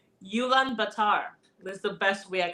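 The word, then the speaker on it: Ulaanbaatar: I don't know if I know how to pronounce this but it's Ulan Batar is the best way I could pronounce it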